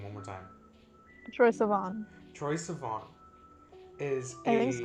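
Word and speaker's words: Troye Sivan: Troy Sivan, yes.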